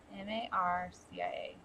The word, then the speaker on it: Marcia: M-A-R-C-I-A.